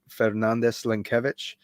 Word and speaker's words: Fernandes-Lenkiewicz: Uh, but if you'd like to know how to pronounce it, it's uh, Fernandez Lankvich.